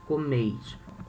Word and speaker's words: comeis: Vós comeis. Notice here we say comes, okay? The strong syllable, the strongest syllable is the first comes. Here we say comeis. The strongest syllable is the last one.